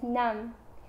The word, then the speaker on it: năm: The number 5 is năm. Any other number with the number 5 in it is pronounced lăm.